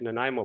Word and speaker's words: Nanaimo: you got it right nanaimo bars it's not nimbo bars sorry mispronunciation you see it that